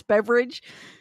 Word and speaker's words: Beveridge: Two Harbors, Nicole Beveridge It's weird because it's not spelled like beverage, but it's beverage.